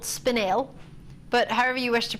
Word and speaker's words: spinel: sad because a lot of people call it spinel. It's actually called spinel. But however you wish to pronounce it, that's obviously, of course, up to you. But traditionally, we pronounce it spinel.